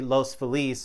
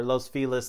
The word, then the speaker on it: Los Feliz: hollywood well technically technically los feliz or los feliz depending on how you want to pronounce it but the area in